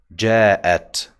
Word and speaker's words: جاء: See the sound at the end?